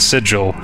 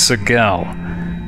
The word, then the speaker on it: Sigil: torment known as uh Seagal is pronounced with a hard G as well that was a surprise for me it's not sigil it's Sigel thanks thanks to a